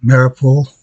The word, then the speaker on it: Mariupol: So over here you have, say it right, Mariupol, where they've taken this town here.